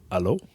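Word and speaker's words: Allo: one so the Google Alo which is pronounced like Halo yeah you're right basically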